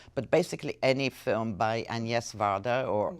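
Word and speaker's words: Agnès Varda: any other film, but basically any film by Agnes Varda, or Agnes Varda as she's pronounced here, is an eye-opener.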